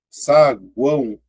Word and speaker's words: saguão: Cheguei aqui, ó, cortei, ó, saguão, aqui. A letra U é pronunciada.